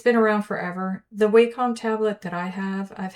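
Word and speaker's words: Wacom: Uh, drawing this top part of this hat, and I quickly went and got my Waycom tablet.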